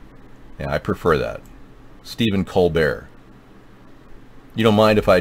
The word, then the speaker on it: Colbert: is pronounced Colbert okay I call it co bear because it sounds kind of like French yeah I prefer that step col bear you don't mind if